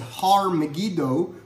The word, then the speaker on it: Har Megiddo: and it's called, and in Hebrew we would pronounce it Har Megiddo, which is where you would get Har Megiddo, Armageddon.